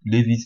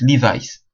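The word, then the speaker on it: Levi's: la vidéo àou la marque Levis qu'on dit Levis Levis les jeans et chemises Levis ça se prononce livice livice en anglais je savais pas à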